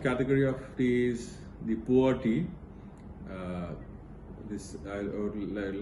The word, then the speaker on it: pu'er: The fourth category of tea is the pu'er tea. I would like to spell it as P-U-E-R.